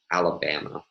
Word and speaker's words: Alabama: Let's begin with the four-syllable word Alabama. So this word has a primary stress on the first syllable and a secondary stress on the first syllable and two unstressed syllables.